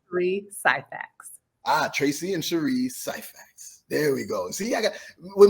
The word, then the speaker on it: Syphax: Tracey and Cheri Syphax.